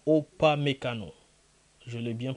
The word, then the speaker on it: Upamecano: Bravo à Upamecano. Je l'ai bien prononcé. Upamecano.